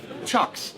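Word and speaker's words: Cioks: to say it's called it's spelled c i o k s but apparent I think I've seen it apparently you say wait CH chocks no chocks yeah but who would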